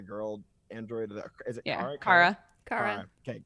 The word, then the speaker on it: Kara: Kara. Okay, it's Kara. Good. I say her name wrong all the time.